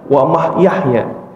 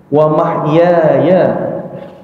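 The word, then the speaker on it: وَمَحْيَايَ: wti hidupku matikuahy hidupku hati-hati baca wahyaya beberapa kali kita ngaji praktik salat seringnya salah nyebut mulu itu wah Yahya Apa dibaca Yahya ingat Nabi Yahya jadi Bacanya apa wamah Yahya diulangin Bu Jangan wamah Yahya wamah Yaya ngulang lagi innaati wausuki W Yahya waamati balik lagi ke W Yahya wahyaya hidupku kalau mama mati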